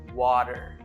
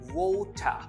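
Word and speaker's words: water: আমেরিকানরা এটাকে উচ্চারণ করে ওয়াটার, ওয়াটার। আর ব্রিটিশরা এটার উচ্চারণ করে ওটা, ওটা। আর আমরা নিজেরা অর্থাৎ আমাদের সাবকন্টিনেন্টাল অর্থাৎ ইন্ডিয়া, বাংলাদেশ, আমরা উচ্চারণ করি ওয়াটার।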